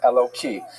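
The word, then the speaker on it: Elokim: And so when you're not pronouncing it in the context of prayer, you would say it with a hey instead of a kuf and Eloki.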